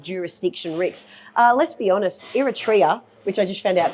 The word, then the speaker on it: Eritrea: We have applied for a property in Eritrea, which is where we were previously working on the Kaluli Potash project.